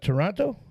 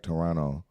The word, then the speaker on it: Toronto: It's a suburb of Toronto. You actually said that wrong. What, Toronto? The T is kind of silent. It's more like Toronto.